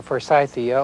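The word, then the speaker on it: Forsythia: the spring flowering plants like the for IA or Foria and it may be pronounced either way should be pruned immediately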